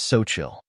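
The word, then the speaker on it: Xochitl: in English it is spelled as XO c h TL the correct pronunciation of this word is soil soil means a female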